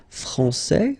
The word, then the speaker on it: français: Okay, so français, here you get this final S that you don't pronounce, so français, and then when you put this final E here, you will get française.